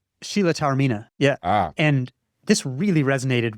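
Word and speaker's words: Taormina: I think her name was Sheila Teman, but I'm probably mispronouncing that. Sheila Tarina.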